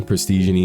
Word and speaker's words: Prestig: what's up y it's press or prestig whichever you want to call me prestig is how you say it today I've got a